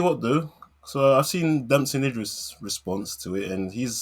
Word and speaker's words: Damson Idris: to dancing dancing idris which is what denzel actually pronounced his name as he said dancing address dancing address and then dancing idris